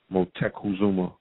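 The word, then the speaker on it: Moctezuma: quick I want to make mention of um Mont Zuma's name the proper pronunciation is Muma motuma all right start resonating that for that ancestor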